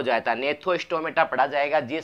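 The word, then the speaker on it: Gnathostomata: ने था हो जाएगा इसमें जी पहले आ गया तो यह साइलेंट हो जाता ने थ्रो स्टोमेटा जाएगा यह साइलेंट हो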